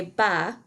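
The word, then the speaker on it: bas: a skirt and de ba which is tights and that s at the end of ba is silent as a normal final s would be in french so it's kind of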